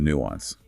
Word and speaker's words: nuance: The key is to avoid a really heavy sharp u sound. You want a very soft long u sound.